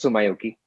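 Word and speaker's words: Tsumyoki: artist who works across genres this artist called sumaioki spelled t-s-u-m uh k-sum t-s-u-m y-o-k-i it's pronounced so myoki obviously heavily inspired by anime and uh japanese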